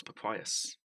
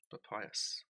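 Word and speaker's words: papyrus: as a writing surface it was papayas p-a-p-y-r-u-s papayas and that's how you say it okay sport rob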